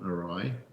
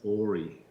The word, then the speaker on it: awry: You know, earlier tonight, Andy, at some stage you used the phrase, "It's gone awry." Yeah. I went 30 years pronouncing that word as Ori.